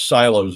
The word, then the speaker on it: Psylo: And of course, they call their tabs silos instead of tabs. And of course, the name of the browser is PSYLO, which I presume is pronounced silo.